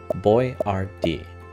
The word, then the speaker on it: Boiardi: American customers and salesmen couldn't pronounce Boiardi. So Ettore changed the spelling to one that customers could sound out, Boyardee.